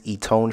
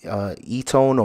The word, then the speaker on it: Eton: Next was this Etone shirt, and Etone or Eton, whichever way you want to pronounce it.